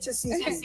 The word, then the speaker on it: Tesehki: I couldn't pronounce her name either. It's Tasiki.